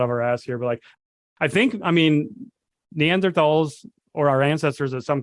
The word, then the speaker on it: Neanderthal: day talking about Neanderthals, or actually Neanderthals, I should say. Apparently. Right way to say it.